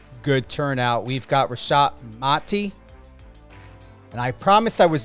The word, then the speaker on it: Mati: before we went live it's very important to know how to pronunciate and and I get it you know sometimes you don't correct but it's mati yes yes um even